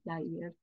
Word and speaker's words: yair: I think if I'm hearing it the way that you want it to be pronounced, I'll just offer the Yivo spelling would be like Yair. Yair.